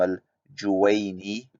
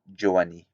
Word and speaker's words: al-Juwayni: he cannot even pronounce names of great scholars like Imam al-Juwayni. He pronounces it Juwani.